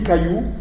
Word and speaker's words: caillou: Donc en principe, si on devait respecter la prononciation et l'évolution typiquement française, on devrait dire chaillou. Si on dit caillou, c'est parce qu'on a conservé ce trait qui